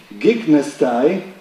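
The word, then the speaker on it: γίγνεσθαι: The Greek gignestai, somebody told me at breakfast this morning that they say gignesta in modern Greek. While in school I was taught to pronounce gignestai, meaning to be born,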